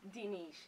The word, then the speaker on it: Diniz: That's the wrong way to say it, because the H is silent. Ah. So it's instead of. Dinish, D-I-N-I-Z.